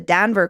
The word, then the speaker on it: Denver: reminds me of the Danver conversation which is some people say Danver and some people say Denver but that's such a